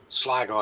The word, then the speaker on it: Sligo: How do you pronounce that? Sligo? Sligo, yeah.